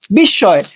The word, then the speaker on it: বিস্ময়: শব্দের মাঝখানে মফলা থাকলে মফলার উচ্চারণ হয় না। যেমন বিস্ময়।